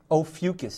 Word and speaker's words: Ophiuchus: Ophiuchus.